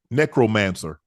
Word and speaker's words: necromancer: Necromancer. What? It's either necro. It's pronounced necromancer.